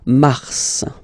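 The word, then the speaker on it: mars: Okay then M okay so in a way it's an exception because normally final s is not pronounced in French okay we've got some exceptions and this one is one of them so Mar pronounce the final s mar mar okay then ail ail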